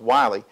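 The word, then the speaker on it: Willie: received by Wiley James spelled like Willy but pronounced Wiley he was one of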